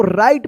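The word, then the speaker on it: write: Variety आप पढ़ते होंगे ना गलत ये इसको राइट पढ़ेंगे। डब्ल्यू के जो है ना यहां पे साइलेंट रहता है।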